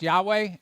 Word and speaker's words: Yahweh: But anyway, um it's pronounced Yahweh.